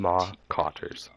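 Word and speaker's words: Mawcotters: Kyle, can you spell that real quick? Malka. M-A-W. Okay, I was way off. M-A-W. C-O-T-T-E-R-S. O-T-T. Marcotters.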